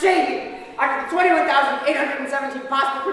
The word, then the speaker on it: Csehy: It is pronounced Csehy.